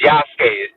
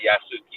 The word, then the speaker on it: Yasuke: I'm just gonna say it's Yasuke. That's how you say it, not Yasuki. It's Yasuke.